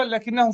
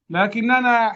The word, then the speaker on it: لكن: لكننا حذفناه في الكتابة فأصبحت هكذا. وأيضا كلمة لكن تنطق هكذا ولا تكتب هكذا، ولكن تكتب هكذا لكن.